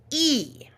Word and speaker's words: y: However, when it's alone, it sounds like E. Okay, so E by itself, the letter Y by itself, is pronounced E, and that actually means and. in Spanish.